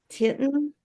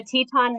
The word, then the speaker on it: Teton: Um, and the last team we have is, is it Titan? Is that how you say it? Ton. And like the Teton Mountains.